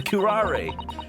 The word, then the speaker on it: curare: The poison, the curare.